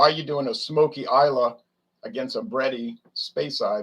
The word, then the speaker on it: Islay: this is uh isla so this from the island of islay isla as they pronounce it isla but it's spelled isla but